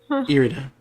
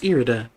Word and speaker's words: Irida: will change everybody here erida haven't i had trouble pronouncing your name like all game no it's fine no because i just i just i just finally was like oh it's irida i finally had to